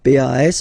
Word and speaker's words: pas: Okay, we write it PAS, okay, but as usual final S is not pronounced, so it's pas.